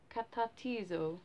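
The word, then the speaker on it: καταρτίζω: So it said like katatizo, apparently that's how it's said, and it's this word here, okay?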